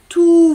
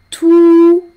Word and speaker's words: tout: On n'entend pas le T.